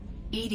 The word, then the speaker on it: EDI: the medical Bay why are you named ed ed is the phonetic pronunciation of Ed I that is an acronym for enhanced defense intelligence how are you getting along with Joker mr.